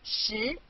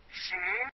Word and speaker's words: 十: This is its syllable, 十. Repeat after me, 十. 十.